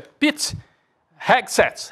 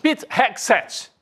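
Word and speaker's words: Pete Hegseth: o nome dele Gabi me ajuda aqui na pronúncia Pit hexs É isso mesmo é isso mesmo Pit hexs o pessoal brincava aqui isso que se o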